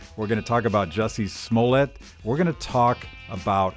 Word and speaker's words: Jussie Smollett: Jussie Smollett.